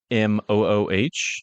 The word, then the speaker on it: Kamooh: Not spelled like the philosopher Camus, obviously. No, it's Kamooh.